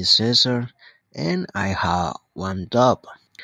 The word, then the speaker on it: Cesar: for mispronouncing your name it's actually Cesar with a a hard s and not a thar with with a soft C there so I apologize